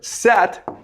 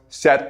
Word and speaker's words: Set: But his brother, Set, it's pronounced Seth, okay, but it's spelled Set.